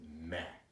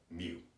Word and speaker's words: mu: that dude's Greek and he pronounced it Mac like almost like em eh does that matter for your purpose no because statisticians pronounce that mu no clue why someone